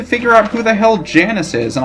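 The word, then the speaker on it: Janus: hell Janice is, and I also think I have been mispronouncing his name the whole time. Because in the past week, I seem to remember that in the movie he was called Yanis instead of Janice.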